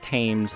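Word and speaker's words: Thames: All right, so we are now on the themes. I don't care if it's supposed to be pronounced tames. There's an h in there and I'm pronouncing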